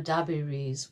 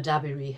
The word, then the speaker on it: Dabiri: little bit about Emma dabiri herself you say her name exactly as Adrian said the emphasis is on the first then I'm going